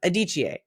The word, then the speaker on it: Adichie: Well, we're talking today about Chimamanda, and I just looked up how to pronounce her last name. Hold on. Adichie.